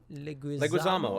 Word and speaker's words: Leguizamo: Leguizamo. I mean, yeah, that's the Yeah, okay, reason. Leguizamo.